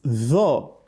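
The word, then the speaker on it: طاء: Tho is a heavy letter. The back of the tongue rises up when you pronounce tho, whereas that of ta, it doesn't do so.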